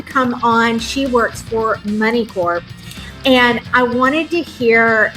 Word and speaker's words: Moneycorp: I say Money Corp. The P is there for a reason, so let's pronounce it. Money Corp.